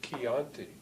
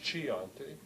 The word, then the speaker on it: Chianti: On the other hand, in Italian, CH stands for a K sound, so that the wine that you buy, that's spelled with CH, is pronounced as Chianti. It's not Chianti, but in Spanish, in